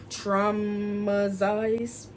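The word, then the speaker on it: Traumazine: Traumatize, that's how you say it, by Megan Thee Stallion.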